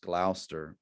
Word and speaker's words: Gloucester: It's, I think the way to say it is Gloucester. You may read it and it looks like Gloucester, but it's, I think, pronounced Gloucester.